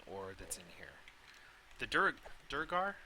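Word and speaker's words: Duergar: The Durgar? I always pronounce it Duragar, but that's not right.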